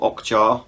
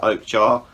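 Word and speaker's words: Okja: speaking of Netflix uh they then released Oak jar or ojar but I'm pretty sure it's pronounced Oak jar uh again this is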